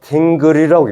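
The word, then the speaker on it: dingir: 이것을 2개 다 뭘로 읽냐면 딩그리라고 읽어요.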